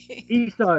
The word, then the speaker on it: Esau: Esau is the way to say it, but you said it.